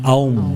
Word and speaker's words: Aum: Ang OM po kasi sa original po talaga niyan is AUM. Oo nga, AUM. Actually, ang bigkas dyan na AUM.